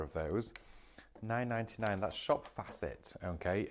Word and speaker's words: Shop Facet: That's Shop Facet, okay? F-A-C-E-T or Shop Faucet, whichever way you'd like to see or say it or spell it.